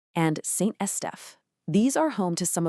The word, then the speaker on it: Saint-Estèphe: Let's get the pronunciation right, because it's key. We've got Margaux, Saint-Julien, Pauillac, and Saint-Estèphe.